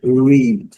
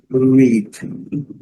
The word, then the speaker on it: read: Ele, no presente do indicativo, a gente lê read. Coloquei U aqui para lembrar do R, né? Read. E do passado e do particípio, read. Aqui está a pronúncia. É o mesmo red da cor vermelha.